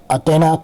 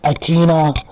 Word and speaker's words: Athena: mom, her fictional mother, Athena Kaiserin. And I'm using the Spanish pronunciation of Athena. You guys in English call her Athena. That's feel kind of off, to be honest.